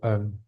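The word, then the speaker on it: عنه: Radhiallahu anh. Iya, kita akan bilang radhiallahu an. An apa anhu itu tadi tulisannya begini anhu. Cuman bacanya h-nya itu selalu disukunkan biasanya kalau dalam baca itu.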